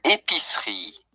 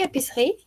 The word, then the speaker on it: épicerie: Une épicerie.